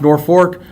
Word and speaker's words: Norfolk: I am in beautiful Norfork Nebraska spelled Norfolk pronounced Norfork uh is there a